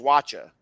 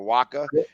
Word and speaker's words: Wacha: And tonight, this guy's going to be pitching to him because right now, tonight they go up against Wacha. I think that's how you say it, Waka.